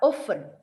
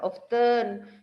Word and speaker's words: often: normally atau generally kemudian kata oven ngerti anak-anak yang bacanya ia bukan often disini mengajak beberapa kali selalu bilang itu often muridnya tapi sekarang ingat-ingat itu bacanya oven Nah itu namanya silent C ya saya lunci over